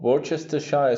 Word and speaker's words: Worcestershire: ketchup one teaspoon of worcestershire sauce yes that's the right way to pronounce it about a quarter cup